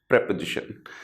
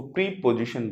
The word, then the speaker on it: preposition: इसको प्रीपोजिशन बिल्कुल ना बोले, इसको हम प्रेपोजिशन बोलेंगे।